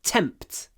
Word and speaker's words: tempt: one don't tempt me try to get a lot of T aspiration tempt T the p and the T are both aspirated tempt don't